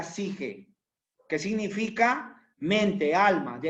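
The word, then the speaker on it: ψυχή: palabra es suche se escribe suche pero se pronuncia sige que significa mente alma de ahí sale Dee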